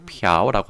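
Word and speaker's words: 朴: 그래서 개인적으로는 이 박씨, 중국에서는 박이라고도 안 하고 피아오라고 합니다.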